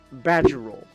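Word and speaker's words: Badgiruel: But they pronounce it like badge, like a badge, like a police badge, badgerol, like a badger.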